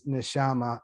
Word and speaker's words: Neshama: It rhymes with pajama. Her name is Neshama.